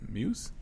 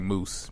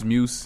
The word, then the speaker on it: Muse: You can mess it up is like Moose. People be saying Moose? Matt Moose. Yeah. Nah, ain't no OOS in that. Right. Yeah, that's like, petty. How do you get Moose? Muse.